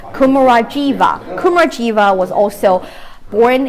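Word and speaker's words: Kumarajiva: name was actually and i know the english pronunciation is supposed to be kumura jiva kumar jiva was also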